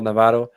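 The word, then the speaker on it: Navarro: New DP forward signing, Rafael Navajo. That's how you pronounce it in Brazilian Portuguese.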